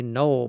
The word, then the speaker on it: gnoll: Karana and Koinos has a knoll problem. That is spelled G-N-O-L-L.